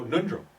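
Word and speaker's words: Ngöndro: Yandro? Oh, Nundro. No, I'm saying it wrong.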